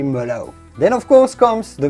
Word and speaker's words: merlot: in the united states of course you know about merlot never say a lot but simply mellow then of course comes